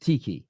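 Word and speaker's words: Txiki: not gonna see Pep and, is it pronounced Tiki? Is that how you pronounce his name? Yeah, Tixi, yeah.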